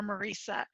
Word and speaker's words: Maresa: a quick point out my name is pronounced Medusa or Maresa it's very common to add the second s people love to do it so if I don't make an announcement it will never ever go away so not sure